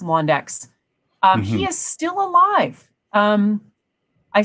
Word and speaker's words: Londeix: And for anybody who wants to look up Jean-Marie Londeix, his last name is pronounced Londeix.